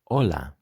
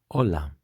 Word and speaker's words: hola: language they have inherited this h that is mute so some of the words are going to contain this sound this letter but you are not going to be pronouncing it as a sound as in this case we are not going to say hola we are going to say hola also what you will need